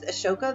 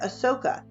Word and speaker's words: Ashoka: for kids educational videos now you may notice right here it says ashoka a-s-h-o-k-a and i'm pronouncing it with an a-s-h and then here i said ahsoka a-s-o-k-a so our book and our student guide pronounce it without an h a lot of the things that you may find additional information will pronounce it or have an h in there it can be pronounced and spelled either way ashoka ashoka was